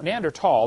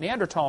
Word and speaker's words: Neanderthal: you don't know the neander Thal neander tall the H is silent neander tall man is named after